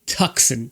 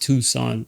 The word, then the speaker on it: Tucson: 15 is the Hyundai tuxen 12,400 tuxon out there I know it's pronounced Tucson I pronounce it tux 3700 of the tux